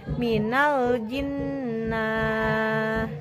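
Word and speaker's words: من الجنة: Kita coba idgham kamil. Seperti ini pelafalannya. Minal jinnah. Jadi durasi pelafalan nun sukun 2 harkat, gunah jelas. Minal jinnah.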